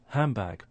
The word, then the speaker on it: handbag: the B sound, and it starts to change to a M. So that's assimilation. So we have elision first, followed by assimilation. So it sounds like handbag. And again, I think that's the normal pronunciation you will hear from almost everybody.